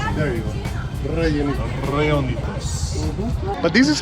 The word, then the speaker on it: Rellenitos: You have to pronounce the R's. Rellenitos. You know girls love that, right? There you go. Rellenitos.